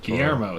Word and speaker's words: Guillermo: there's one pun about that uh they're Guillaume Guillermo del Toro how the do you say his name Guillermo Guillermo there we go yeah Del Toro he's in